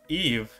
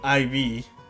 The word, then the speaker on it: Eve: Eve's name may be a variation of Eve, as Ibu, Eve's name in Romaji, is the Japanese pronunciation of the name Eve. So it's Eve, not IV.